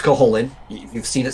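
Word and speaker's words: Cú Chulainn: really cool herculean character named coholin it is pronounced coholin you've seen it say ku chalain that's not how you pronounce the guy it's caholin and he's kind of like the incredible hulk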